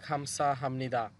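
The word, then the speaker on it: 감사합니다: উনি বলতেছে দেখেন খামসা হামনিদা। খামসা হামনিদা, এখানেও এই বিউব বা সিমের পর নিউন আছে বিদায়, বিউবের উচ্চারণ ম হবে।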